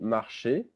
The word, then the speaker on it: marchez: Then vous marchez. Easy in French is pronounced E. So it's vous marchez, pronounced exactly the same way as the infinitive.